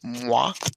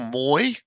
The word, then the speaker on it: Moi: Well, we need to introduce Just Have Fun, whose name within the game is Moi or Moy. And if you're Yeah, I Australian, say it'll Moy. be Moy, but it's pronounced Moi. He plays on the Jedi Phoenix.